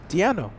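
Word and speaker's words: Deion: right Dio d e a n o yes Dio right Dio d e a n o Dio Sanders is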